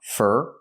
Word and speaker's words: for: For is pronounced fur because it's not stressed.